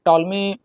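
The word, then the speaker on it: Ptolemy: और इसके एक चीज और याद रखिएगा, जो टॉलमी है, टॉलमी स्पेलिंग जो है पी से स्टार्ट होती है, पी साइलेंट रहता है, तो ये याद रखिएगा।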